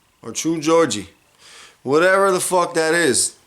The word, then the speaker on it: Geordie: But True Gordy, is it Gordy? Geordie. True Geordie. Or True Georgie.